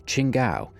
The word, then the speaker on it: Chingao: Hey, look, it's actually spelled kind of right. Oh wait, no it's not, because where's the W? It's Chingao. Obviously. I just say Shingao because, you know, that's how you say it.